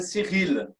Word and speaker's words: Cyrille: Meu nome em francês é Cyril. Tem que puxar o R, mas o Cirilo é boa.